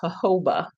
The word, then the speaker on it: jojoba: Okay, it's pronounced jojoba. Is that right? So the J is an H. So okay. Don't say the J.